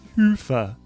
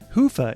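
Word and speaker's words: Hyvä: Commerce is sponsored by hia or as the Europeans say hoofa or the right way to say it hufa is rapidly becoming the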